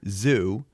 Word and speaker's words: Xu: 2017 in this study a Dr zoo I think it's XU I'm pronouncing zoo at all for Northwestern